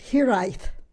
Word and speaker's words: hiraeth: The Welsh word is pronounced hiraeth.